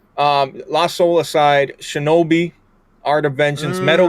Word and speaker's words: Lost Soul Aside: Lost Soul Aside. Yeah, a lot a lot a lot of retards on Twitter call it Lost Souls Aside, but it's not it's not plural, right? Um Lost Soul Aside, Shinobi, Art of Vengeance,